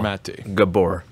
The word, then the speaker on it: Gabor Maté: says no uh by gay gay born or mate gabor yeah that's that's how you say it okay